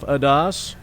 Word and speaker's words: Adas: matter up is jeff adas excuse me yes it's a long a and he is batting